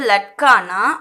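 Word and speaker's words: लड़के: இதே வந்து லட்கானா ஒரே ஒரு பாய், சிங்குலராக சொல்கிறது பாய் அப்படின்னா லட்கா. லட்கே அப்படின்னும் போது ப்ளூரல் வந்துடும், பாய்ஸ் சிறுவர்கள். லட்கே பாய்ஸ் சிறுவர்கள். இதுவும் இட்டுன்னு தான் ப்ரொனவுன்ஸ் பண்ணணும். இட்டு லட்டுன்னு சொல்லாதீங்க, லட்கே.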